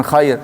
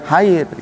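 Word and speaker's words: خير: Orang biasanya kalau udah tahu salah, bacanya bukan khair, hair. Kalau nggak ada titiknya itu kan artinya bingung. Kalau khair baik. Gimana kesaksian Anda terhadap jenazah ini? Baik, khair. Nah, pakai kha.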